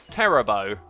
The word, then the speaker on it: Terabo: So we have Terabo resubscribing for 5 months in a row, saying, "My name is pronounced Terabo, with A as in Ray.